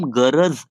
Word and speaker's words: गरज: गरज ऐसे प्रोनाउंस करना है। गरज फिर वो एक बार हिंदी हो गया गाइस। मराठी में ज नहीं प्रोनाउंस होता है।